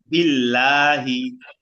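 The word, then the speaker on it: بالله: মিনাশ শাইতানির রাজিম বিল্লাহি বিল্লাহি বিল্লাহ লামটা পাতলা মুখ খুলতে বিল্লাহিললাহি মিনাশশাই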